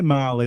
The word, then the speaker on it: Mali: So I say Mali, but it's spelled like the country, MALI Fair enough.